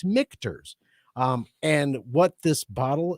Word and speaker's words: Michter's: me to go um i want to say mikters well you said it right it is yes